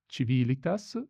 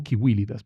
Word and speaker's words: civilitas: Para mí es civilitas y no civilitas, me suena tremendo civilitas. O kiwilitas, perdón.